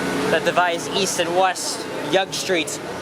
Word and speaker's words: Yonge: Hey, here we are, once again on the city's most interesting street that divides east and west, Yonge Street. It's spelled as Y-O-N-G-E and not Young as in Y-O-U.